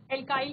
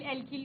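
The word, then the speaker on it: alkyl: और यहाँ पर हम बात कर रहे हैं एल्काइल सीरीज की, और एल्काइल सीरीज हमें क्या कह रहा है, एल्काइल, एल्किल भी आप प्रोनाउंस करते हैं।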